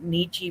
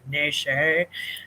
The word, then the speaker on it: Nietzsche: people from America tell me, don't pronounce it Nietzsche, pronounce it Nesche.